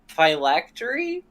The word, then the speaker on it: phylactery: phylactery. Is that how it's pronounced?